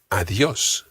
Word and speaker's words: adiós: Goodbye in Spanish is adiós. Adiós. Adiós. Adiós. Try to get that soft D in there again. Think of the word the.